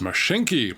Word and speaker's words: Mashinky: and welcome back I'm people doing this is mashinki by Jan zeleni I said it right this